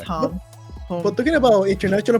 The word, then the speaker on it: Hom: So I thought it was first. That's Hom.